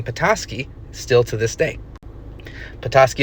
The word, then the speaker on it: Petoskey: Petoskey, of course, being the more anglicized pronunciation of Biidaasige.